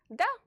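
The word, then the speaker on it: да: It's pronounced like the English D. D. Da.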